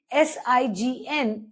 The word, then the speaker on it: sign: Similarly, S-I-G-N is sign.